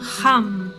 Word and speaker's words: Ham: Al inhalar, imaginad que la energía creadora sube por los canales espermáticos hasta el cerebro y pronunciar el mantra Ham. Así. La H suena siempre como J.